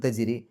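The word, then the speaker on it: تجري: അപ്പോൾ അതിന് തജിരി, അതിന് തജിരി. തജിരി ജീമിന് സുക്കൂന് കൽക്കലത്തിൻ്റെ അക്ഷരമാണ്, എടുത്ത് പറയണം, വെളിവാക്കി പറയണം. ജ് എന്നുള്ള ശബ്ദം പുറത്തേക്ക് കേൾക്കണം. തജിരി, റാഇന് കസർ, രീ എന്നുള്ള ഉച്ചാരണം കൊടുക്കുക.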